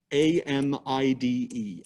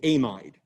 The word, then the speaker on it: amide: our amide functional group amid amide and organic chemists pronounce it amid biochemists pronounce it amide and organic chemists are right and biochemists are wrong but anyway uh sort